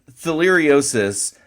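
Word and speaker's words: theileriosis: Let me make sure I'm pronouncing this correctly. It's theiosis. Correct. Theiriosis.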